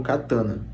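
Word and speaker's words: katana: japoneses criaram a espada katan que nós pronunciamos comumente Como catana podendo ser segurada com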